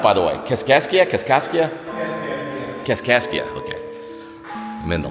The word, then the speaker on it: Kaskaskia: How's it pronounced, by the way? Kaskaskia? Kaskaskia? Kaskaskia.